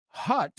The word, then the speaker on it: hut: And the word hut rhymes with butt, cut, mutt.